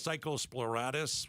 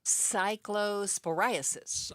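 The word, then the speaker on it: cyclosporiasis: See, but we're in the middle of this mess with how do you pronounce it again, Becky? I don't know how to pronounce psychosporatis. What is it? Cysporiasis. Okay, I was almost there.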